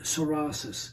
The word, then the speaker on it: psoriasis: first of all let me explain the word soris spelled PSO r i a s i s